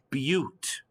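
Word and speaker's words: but-: notes this is not a but this is pronounced butte b-u-t is but and what a beauty it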